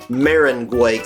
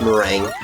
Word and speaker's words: Meringue: off we are in marangu clouds No I know that's not how it's pronounced it's mering um but before anyone